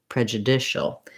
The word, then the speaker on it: prejudicial: So that means we have the clear vowel, but we're still going to be fast on that syllable, prejudicial. And then we also keep the j of prejudice with that vowel schwa. So we lose our oo of judicial.